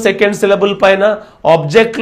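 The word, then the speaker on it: object: ఆబ్జెక్ట్ second syllable పైన వస్తుంది verb కాబట్టి.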